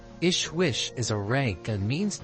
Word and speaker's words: JHWH: JHWH, pronounced Ishwish, is a rank and means translated into terrestrial languages, King of Wisdom.